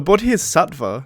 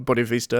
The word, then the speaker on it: Bodhisattva: The Bodhisattva, not Bodhivista as I was pronouncing it, is someone in